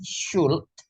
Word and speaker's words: should: Jadi should itu cara bacanya ini should, itu L-nya mati, nggak dibaca.